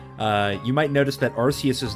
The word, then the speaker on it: Arceus: use that Pokémon, uh which I pronounce as Arceus, by the way. If you pronounce it Arkius, then that's fine, but that's not how I do it, so.